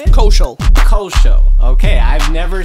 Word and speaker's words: Koshiol: But yeah, we got author, security extraordinaire, we got street team genius, Koshiol? Is that how you say it? Koshiol.